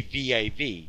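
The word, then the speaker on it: וו: But Psalms 119 will let you know that it is pronounced V, because the entire Hebrew alphabet is given in Psalms 119. And it is there written in the King James Bible, V-A-U. More properly, it would be V-A-V, Vav.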